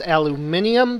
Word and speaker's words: aluminium: a more appropriate term because the people who generally use the aluminium pronunciation are you know british commonwealth people particularly people from the uk and the reason i